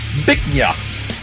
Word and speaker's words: Bich Nga: Now, B I C H space N G A is pronounced Bich Nga.